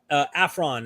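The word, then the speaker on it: aphron: to brag i will not be a full afron is that how you say it yes because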